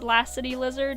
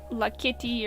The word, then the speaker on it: Lassity Lizard: pronounce my channel name, it's Lassity Lizard, not La Kitty or something. I've heard all sorts of different pronunciations. It's like when I first made the channel, I thought of the names Lacey and Cassidy and kind of mushed them together, and that's what I came up with.